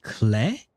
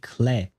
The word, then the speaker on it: Klee: Wait, they pronounce it Clay? I think that's what he said, right? Or was it just a Japanese word? I think because it's not written in the subtitles, but I do think that they actually said Clay to call Klee.